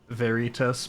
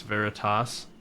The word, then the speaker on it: Veritas: Ned says, I thought the name Veritas was cool and I pronounced it Veritas, but apparently it's Veritas.